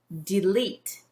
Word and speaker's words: delete: So how can we read this syllable? D, leet, eat, delete.